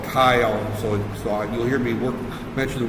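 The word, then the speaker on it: Keil: So, and that is spelled K-E-I-L, Kyle, is the assembler that we're using right there.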